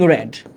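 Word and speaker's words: read: ওকে, এই ক্ষেত্রে রিডের ক্ষেত্রে সেম জিনিস, এটাই V1, এটাই V2, এটাই V3। তবে মাথায় রাখতে হবে রিড যখন প্রেজেন্টে তখন উচ্চারণ রিড, আর পাস্টে বা পাস্ট পার্টিসিপল উচ্চারণ হচ্ছে রেড।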